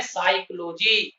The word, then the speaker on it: psychology: जैसे एक उदाहरण यहां दिया है, PSYCHOLOGY, इसमें लिखने में प का है, प युक्त है यह शब्द, लेकिन जब इसको बोलते हैं, इसको पढ़ते हैं, तो इसका उच्चारण होता है साइकोलॉजी, और यहाँ पी साइलेंट हो जाता है।